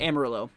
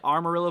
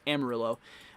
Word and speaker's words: Amarillo: wanna i pronounce it amarillo i heard i heard people say armarillo but i don't think it's it's not armored it's amarillo um at least from